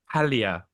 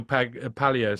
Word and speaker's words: Paglia: Ah, Palia. You don't pronounce the G. Camille Palia says.